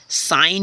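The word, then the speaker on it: sign: है उसको देखते हैं जैसे फ्रेंड्स साइन हो गया एस आई जी एन जी एन यानी अगर आप ये भी कह लो अगर जी एन साथ में आए तो क्या हो जाता है जी साइलेंट हो जाता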